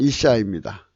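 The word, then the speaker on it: אשה: 또한 악한 계집의 계집은 이시시사흐입니다. 이시시아흐인데요. 발음은 이샤입니다.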